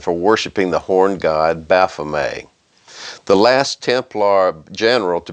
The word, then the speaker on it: Baphomet: A lot of people say Baphomet, like it's spelled, but it's actually pronounced Baphomet.